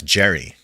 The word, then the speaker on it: Geri: Geri. My mother, Naomi. That's Jerry. Jerry. That's my a woman.